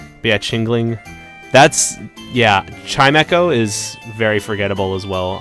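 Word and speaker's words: Chimecho: Oh, yeah. Chimeo. I always called him Chim Cho. Why did I call him that? I That was my mispronunciation again.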